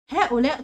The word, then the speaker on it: هؤلاء: هؤلاء طلاب مجتهدون، هؤلاء طلاب مجتهدون. الخطأ، الخطأ طبعا في كلمة هؤلاء، احنا عارفين ان في بعض اسماء الاشارة بيكون فيها الف بتنطق ولا تكتب زي هؤلاء، فلازم نحذف الالف.